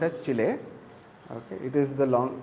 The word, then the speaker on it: Chile: It is pronounced as Chile.